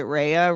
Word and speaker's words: Rhea: Is it Rhea? Ria? Ria. It's Ria.